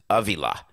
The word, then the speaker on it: Avila: It is Avila, actually.